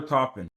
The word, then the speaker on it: Toppin: how do you top dollar top dollar topping top dollar topping that is literally top dollar topping. Topin is spelled um two P's T O P I N.